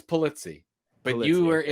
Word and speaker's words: Pulizzi: So the Americanization of my name is Pulizzi. So that's how you would pronounce it. Now, when you go over to Sicily, Marsala, Sicily, it's Pulizzi. And that's the first time I heard anybody pronounce it correctly.